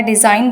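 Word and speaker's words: design: डिज़ाइन बोलते हैं तो जी साइलेंट रहता है।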